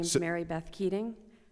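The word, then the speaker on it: Keating: my application absolutely my name is Mary Beth keing spell it for yep k e a t i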